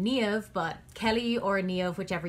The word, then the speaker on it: Niamh: I go by Kelly most recently because it's a little bit easier than trying to explain the spelling and pronunciation of my Gaelic name, Niamh, but Kelly or Niamh, whichever you prefer, is totally fine by me.